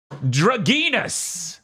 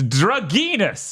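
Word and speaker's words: Dragnas: crof game yes nice dragus which is how they say it oh is it yes drus which is d r a g n a s comes out and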